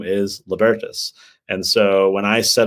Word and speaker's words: Libertas: So I think I got the pronunciation of the institute wrong from the start. I said Libertas, and it's Libertas.